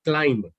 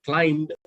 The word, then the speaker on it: climb: is correct you're right this word should be pronounced with an ending of m and not a b if i just read